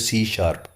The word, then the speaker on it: C#: सकते हैं सी शप इसको सी हैश लिखते हैं लेकिन प्रोनाउंस इसको करते हैं सी शार्प इसका सिंटेक्स आपकी ये